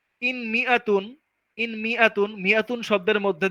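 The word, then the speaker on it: مائة: কিন্তু যখন এখানে মিমের মধ্যে জের দিলাম এই শব্দের মধ্যে মিআতুন, তখন কিন্তু আর আলিফটা উচ্চারণ হচ্ছে না, তখন বলছি মিআতুন, কোন টান টন কিছুই নাই, বলছি মিআতুন।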